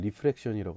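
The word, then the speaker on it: refraction: 리플렉션 발음이. 근데 얘는 LE 발음이고 얘는 RA 발음이에요. 그래서 제가 발음을 할 때 리플렉션이라고 할 거고, 이거는 리프렉션이라고 할 겁니다.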